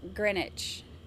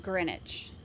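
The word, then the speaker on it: Greenwich: she's so cute um oh pronounced grenwich pronounced grenwich okay I got it wrong uh in London so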